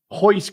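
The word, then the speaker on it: Royce: one his name is Hoist Gracie starts with an R but pronounced with an H for an extra half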